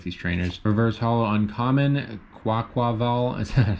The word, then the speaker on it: Quaquaval: Quaquaval. Still trying to pronounce that properly because I keep wanting to say Kolava for some reason.